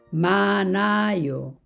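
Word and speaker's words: 많아요: 소리가 됩니다 만타 만타 그리고 몸을 만나면 마나요 앞에 있는 니은 받침은 그대로 발음이 되고 히은 탈락이 되면서 마나요 마나요 그런데 니는 또 모음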